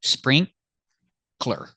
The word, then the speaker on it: sprinkler: It's not three syllables. Like before we had sprinkle, right? This is different. It's not sprinkler. It's sprinkler.